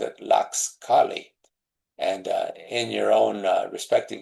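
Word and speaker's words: tlaxcalli: So instead of calling it tortillas, the indigenous people called it laxcali. And in your own respective ways, I'd like to have you practice that word. The T is silent, so you start with laxcali.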